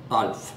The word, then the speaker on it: Alf: You don't pronounce A here like you do maybe in England or somewhere. In Norway, and A is always an A. So we pronounce it Alf? Alf.